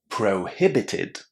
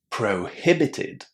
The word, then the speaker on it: prohibited: Prohibited. Prohibited. Again the H is pronounced. There is a strong stress on that syllable where the H is.